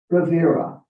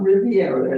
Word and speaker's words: Rivera: a restaurant down in rivera i always have to think how to say it it's not riviera it's rivera that's right yeah that